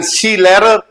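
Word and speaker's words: Skilehrer: हो स्किंग सिखाते हो तो शी लरर एस के आई एल ई एच आर ई आर होता है लेकिन हा पर के साइलेंट रहता है आपका ठीक है इन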